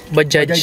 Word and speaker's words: Bajaj: Yung pronunciation pala niya dapat is Bajaj. Bajaj talaga. Kasi ako, lagi akong mali ako dun eh. Bajaj. Bajaj lang ako, silent G.